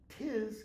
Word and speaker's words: 'tis: Thou knowest 'tis common. What's the 'tis? Apostrophe T-I-S. It's an abbreviated form for it is, but it's not pronounced with two syllables. It's pronounced with one syllable.